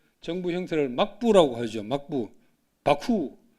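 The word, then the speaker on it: 幕府: 막부, 바쿠. 일본 발음은 바쿠입니다.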